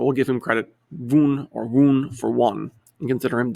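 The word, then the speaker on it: Wundt: year as a mnemonic when i look at voont's last name the wn kind of sounds like the number one depending on how you want to pronounce it he is for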